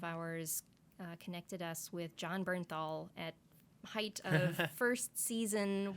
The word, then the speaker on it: Bernthal: So you just, because of fate, John Bernthal, how do you say his last name? Bernthal. Bernthal, Yes. the Punisher himself.